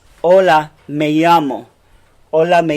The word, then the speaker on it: llamo: if you notice this that double L is a Y sound hola me llamo hola me llamo hola me llamo